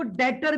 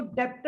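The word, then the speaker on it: debtor: account रिसी वेबल इसको डेटर भी कहते हैं डी ई बी टी ओ आर यहां पे बी साइलेंट होता है और इसको डेप्ट नहीं पढ़ते इसको डेटर पढ़ते हैं अब यह डेटर कौन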